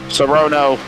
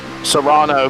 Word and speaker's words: Serrano: Boy, Serrono. Serrano. Man, look at this. Like Pedro Serrano from Little League is the way you say his name.